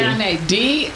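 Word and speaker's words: D'Janae: It's French. Thank you. Janae. The D is silent.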